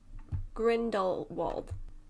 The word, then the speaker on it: Grindelwald: second is that is that was that right grindelwald i think it's a grinder grindelwald i'm sure